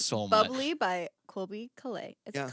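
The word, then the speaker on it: Caillat: "Bubbly" by Colby Calais. Is Yeah. it Colette?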